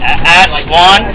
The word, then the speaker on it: Aswan: Okay, we are on our overnight train ride to Aswan.